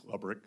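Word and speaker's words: Lebryk: Am I pronouncing his name correctly? I believe it's Lebrick.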